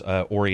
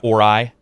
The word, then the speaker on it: Ori: my favorite soundtracks, one of my favorite games, Ori and the Blind Forest, even though I pronounced that first name wrong for the first, like, 6 months the game was out. I think I was calling it Ori.